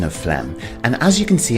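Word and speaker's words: phlegm: Let's take a closer look at the pronunciation of flem. And as you can see on screen the ph is pronounced as an f and we have a silent g.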